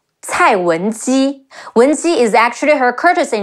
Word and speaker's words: Cai Wenji: Another female character, Cai Wenji, Ci Ai Cai, Wu En Wen, Ji Yi Ji, Cai Wenji.